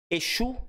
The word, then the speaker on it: Exu: um espírito ó Exu Exu Exu É Espírito Exu é divindade tem um s com meio que som de ch sh ali é a pronúncia é bem diferente de qual religião saiu